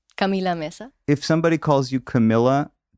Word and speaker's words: Camila Meza: thanks for having me do people call you meza in english camila meza sometimes i get camilla mesa no it's camila mesa if somebody calls you